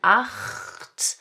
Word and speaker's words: acht: We have a hard 'ch' sound in 'acht'.